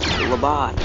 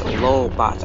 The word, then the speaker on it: Lobot: It's Lobots. I wanted to say, I want to call them Lobots. Since it rhymes with robots.